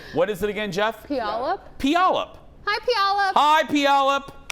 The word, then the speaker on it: Puyallup: We're from Puyallup, Washington. Please try to say our city name live. It's hard to pronounce correctly. What is it again, Jeff? Puyallup?